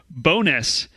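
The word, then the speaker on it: Bo'ness: has a longer name they call it bonus but the name is actually burrow stewness oh bro okay yeah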